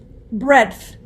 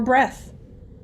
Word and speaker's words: breadth: Breadth. Breadth. This is the noun meaning the distance from side to side. Breadth. Language of origin, please. English. Any alternate pronunciations? Yes, it says breadth, breadth, or breath.